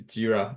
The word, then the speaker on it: Jira: So I know some people are pronouncing Jira, like Jova Jira. It's not Jira, so it's Jira.